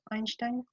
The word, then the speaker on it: Einstein: Einstein, c'est prononcé. Einstein.